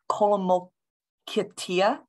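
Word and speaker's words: kolomikta: That one, and I might butcher the pronunciation, Colomokitia, K-O-L-O-M-I-K-T-A.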